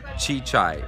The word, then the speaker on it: Csicsai: TV show Hungarian and it's pronounced chichay it's actually easy to say just hard to spell oh my gosh everybody